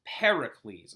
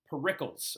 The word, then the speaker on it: Pericles: name incorrectly all right his name is Pericles all right not Pericles all right so if you roll up into my class and be saying parles it's G to bother